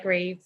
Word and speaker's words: Grieves: Help me pronounce that last name for me. Grieves? Yes, that's right, Grieves.